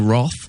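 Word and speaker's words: wrath: he's prepared to risk the wroth that's how you pronounce it of the listeners as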